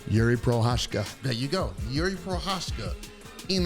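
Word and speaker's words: Jiří Procházka: it again girl yuri pro there you go yuri pro hoshka in like we said okay is this going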